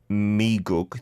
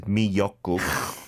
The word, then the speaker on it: 미역국: The miyeokguk, right? Not miiguk. This is miyeokguk. Miyeok is kelp, and the guk is the soup, so seaweed soup. That's delicious, by the way. That is delicious. And miyeokguk is this iconic soup,